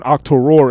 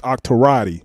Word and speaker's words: Octorati: I've been saying Octorori. I've been saying your name wrong. It's Octorati.